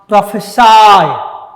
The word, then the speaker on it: prophesy: ध्यान से, ये जो वर्ड है PROPHECY, प्रोफेसी, ये नाउन है, ठीक। और PROPHESY, प्रोफेसाई। Please listen to the pronunciation carefully, what I am saying.